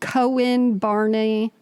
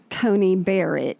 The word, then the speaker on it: Coney Barrett: event oh at that outdoor thing for um cohen barney i'm joking you'd like to mispronounce her name amy coney barrett um he was there anyway hmm well she